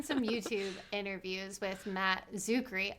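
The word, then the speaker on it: Czuchry: interviews with matt zuckery i learned how to say his name the c is silent i have no idea i've been a fan this entire time and it was just that easy to just remove the sea at the start but i'll dial it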